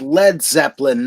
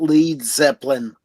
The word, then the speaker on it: Led Zeppelin: You know, it's Led Zeppelin, not Lead Zeppelin.